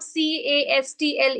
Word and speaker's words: castle: One thing, the correct pronunciation of CASTLE is castle.